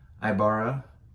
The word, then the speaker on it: Aybara: up in North Houston this is ayabara I'm pronouncing that right Ibarra kind of like capybara Imperial Stout 8.7 alcohol